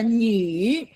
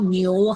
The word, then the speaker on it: 女: The U has 2 dots on top. It's pronounced 女女。她有朋友吗？Okay, 她有女朋友吗？女 not 牛哈。 What you've said is a cow friend.